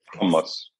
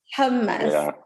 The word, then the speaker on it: hummus: humus is I think the proper way to say it in humus humus okay hus i w to make sure I say it correctly it's almost like hum like like hum almost but even like it's hard to say it's a it's a